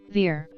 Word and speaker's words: Ver: this is Roger his surname is spelled V er but properly pronounced V R Roger V R was